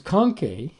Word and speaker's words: conchae: So these conchae, which if it sounds like the word conch, which is a seashell, it's on purpose.